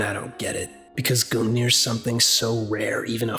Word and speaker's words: Gungnir: Look at this word. No, this word is not pronounced. Gungnir. Gungnir. Gung-ho. Alright, what's this professor gotta say? Gungnir. Alright, sounds good.